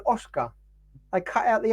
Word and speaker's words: Oscar: I went now that's Oscar they've been pronouncing his name without the S and I've been calling